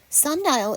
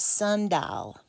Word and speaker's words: sundial: as sun D Sund di actually has three syllables in the South we tend to say it as sundal but we're losing that a sound it's Sundial and the sound spelling is Sun die o Sundial a Sund dial